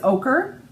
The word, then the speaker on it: ochre: And it's ochre.